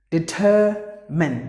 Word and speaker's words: determine: There are two letters silent. The letter E is silent. You know exactly, because any word ends with the letter E, it is almost silent. And the letter R is silent because it is followed by a consonant.